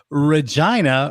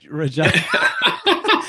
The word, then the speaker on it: Regina: I don't know how that worked but Yeah, you had an Agra Regina I mean I know the joke writes itself. The city that rhymes with fun like they say yeah.